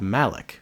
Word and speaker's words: Malak: attack by the Soviets he's called Malak although sometimes pronounced Malik he's known as Malak